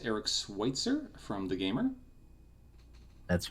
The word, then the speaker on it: Eric Switzer: It is, I believe, pronounced Eric Switzer from TheGamer.